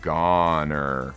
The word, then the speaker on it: goner: donor and is gone doesn't rhyme with boner oh goner oh my gosh is